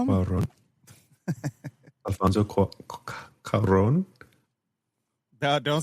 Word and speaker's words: Cuarón: I don't know how to pronounce that last name. Rivera. Cuarón? What'd you call him? Cuarón.